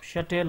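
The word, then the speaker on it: shutil: is called as the shuttle you can also pronounce it like a shuttle or anything so this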